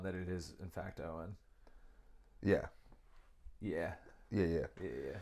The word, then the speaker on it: Owen: And if you're reading that name, it is pronounced Owen.